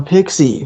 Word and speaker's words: PXE: but the Echo EP, is it so PXE? How do you pronounce it? Oh, I thought it was Pixie. Pixie. It is. Yeah. It's Pixie Music is how he says it.